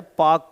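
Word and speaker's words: Palk: state के नीचे है पाक की खड़ी इसमें पी एल साइलेंट होता है ये उसके नीचे की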